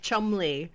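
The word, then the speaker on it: Cholmondeley: Ignore multiple letters Just- like Chumley and Beecham. Just ignore the central third of the word, because why wouldn't you?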